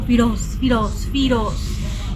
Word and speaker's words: Feroz: Y de hecho no se pronuncia como Feroz, es como Firoz.